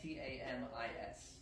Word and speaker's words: tamis: next step is to put this through tamis or tamis, or I don't know how to pronounce it. T-A-M-I-S. I think it's pronounced tamis, but not 100% sure.